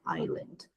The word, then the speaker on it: island: Island não tem esse S.